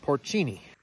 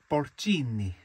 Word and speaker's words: porcini: they're actually also called porcini. I guess I was saying it wrong. The correct way to say it is porcini.